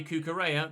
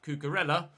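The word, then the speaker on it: Cucurella: it orlan just the same way we say kookarea not cucarella the same way we pronounce anyone's name the way that it's pronounced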